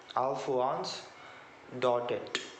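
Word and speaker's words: Alphonse Daudet: it's written by alforanz dotted that the actual pronunciation of his name in english okay alph once dotted and to remember the the name of any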